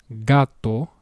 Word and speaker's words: gato: First pronunciation, gato, hard G, gato, which means cat.